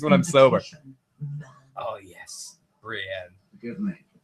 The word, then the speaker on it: Brienne: I have I have enough trouble pronouncing things when I'm sober. Oh, yes. Brienne, give me Brianna.